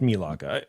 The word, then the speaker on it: Melaka: It's Melaka. Anyway. I don't know. In Malaysia. It's pronounced Malaysia.